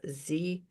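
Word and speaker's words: zyzzyva: Pronounced Zizia.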